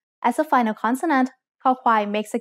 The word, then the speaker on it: ค: คอควาย makes the sound k when it's the initial consonant in a syllable. It sounds like the letter k in kite or the c in cup.